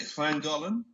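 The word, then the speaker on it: Llangollen: Isn't it Clangolan?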